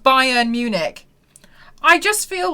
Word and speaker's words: Munich: Am I the only one here that does not know how to pronounce this word? I don't get it, Mel. It's Munich.